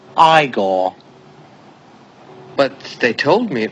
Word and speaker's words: Igor: Feldman home what home hello you must be eigor now it's pronounced aore but they told me it was eagor well they were wrong then weren't they ain't